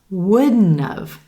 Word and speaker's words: wouldn't have: Would not have becomes wouldn't have. Wouldn't have. Again, a 3-syllable word is what it sounds like, right? Emphasis on that first syllable and the as in would sound.